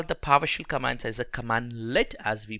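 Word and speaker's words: cmdlet: So we call the PowerShell commands as a commandlet, as we pronounce.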